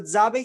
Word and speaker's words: Zabe: So Zabe here is pronounced like the end of pizza, right? Za and then Bay.